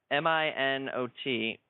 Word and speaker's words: Minot: like what's this well no m-i-n-o-t yeah maybe i think it's actually pronounced minot well